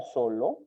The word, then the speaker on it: solo: Solo, sílaba tónica, so. Y como tal, termina en vocal, es una palabra grave o llana, no debe tildarse.